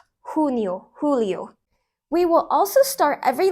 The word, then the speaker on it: Julio: on the region or country and yes I pronounce ounc the J as an H Julio we will also start every Lesson by asking